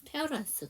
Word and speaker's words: parents: 그렇기 때문에 만약에 양쪽 부모님을 다 얘기하고 싶다 그러면 S를 꼭 발음해 주셔야 됩니다. 안 한 거와 한 거는 의미가 달라지기 때문에 그래서 페어런스 그럼 바쁜 부모님들에게는 하지만 바쁜 부모님들에게는 출입 여행이에요.